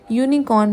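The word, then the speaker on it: unicorn: यूनिकॉर्न में है तो यू लेकिन य की साउंड आ रही है।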